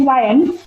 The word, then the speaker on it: lien: The pronunciation is lion, and I think this is a new word for you.